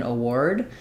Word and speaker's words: award: the word award um so award is also something where um the spelling is a little bit misleading here so we have two letter A sounds but we're not saying any a or a or R sound sounds in award um the first letter a is awah sound it's unstressed and so it's going to sound like uh it's going to be very short uh award award and then